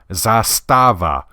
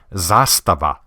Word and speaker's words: Zastava: K Republica Serbia I generally hear their name pronounced as Zastava or Zastava the correct pronunciation isn't far off it's actually Zastava kind of rolls off the tongue if you're